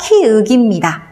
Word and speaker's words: 키읔: 이거 이름 키역 아니에요. 키읔입니다.